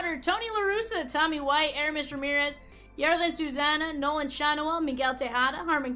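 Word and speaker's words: Yarlin Susana: That is the Jarlene Susanna. What is that? Jarlene Susanna? Here you go, Rosie. That Jarlene rhymes with Bonana. Yarlin Susanna. I don't know who that is.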